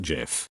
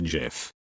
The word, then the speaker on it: GIF: humans act in households it's pronounced GIF I'm sorry but not it's not GIF it's GIF like the G in gigantic I knew my son